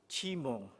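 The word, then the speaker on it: CIMO: pronounce cmio but sometimes we hear the term c-i-m-o which i suppose is pronounced as chimo and most recently i've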